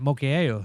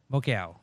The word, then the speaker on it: Mokiao: I've been pronouncing it Mokiao. It's Mokiao. Nice.